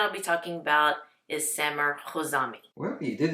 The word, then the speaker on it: Samer Khouzami: i just want to make sure that i pronounce his name correctly so the brand that i'll be talking about is sammer kozami well you did it's really good jose yes